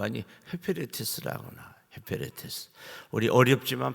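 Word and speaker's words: ὑπηρέτης: 헤페레테스. 우리 어렵지만 발음 한번 해볼까요?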